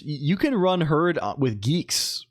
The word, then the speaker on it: Guix: Now it's pronounced Yeah, I I always thought it was Guix as well, but I was told it it apparently is pronounced geeks like like I don't I don't know either.